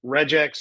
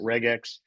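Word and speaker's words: regex: Okay, regular expressions are reax or some people pronounce it reg x.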